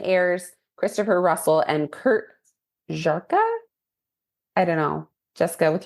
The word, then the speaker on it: Żarka: So anyway, it also is starring Benjamin Ayres, Christopher Russell, and Kurt Żarka. I don't know. Jessica, with your Polish husband, you'll have to help me out with this. Szarka. Żarka, yeah. Żarka.